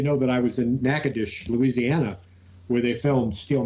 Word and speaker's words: Natchitoches: Natchitoches. I think I said the story on an episode about pronouncing it Nacogdoches because I asked Siri how to pronounce it, and she was all fucked up.